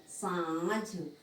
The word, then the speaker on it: सांझ: आ रहा है सांझ, लेकिन सही शब्द क्या है, सांझ, यानी हमारे नाक और मुंह दोनों का उच्चारण कर किया जा रहा है यहाँ पर। अनुनासिक यानी में क्या आएगा, नाक और मुंह दोनों का, यानी सांझ, सांझ परे, सांझ के समय।